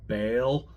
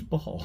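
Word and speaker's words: Baal: b a a l somebody told me that they think it's pronounced Bale um but I don't know it's b a a l and I'm American baby yeah so it's ball I don't know but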